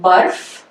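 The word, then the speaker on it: बर्फ़: So we can hear the ra. In fact, we pronounce this prior to actually noting it in the written form. So barf, okay.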